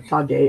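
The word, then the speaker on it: ὑποταγή: The word for subjection is hupotage, or tage, as they don't have a soft G.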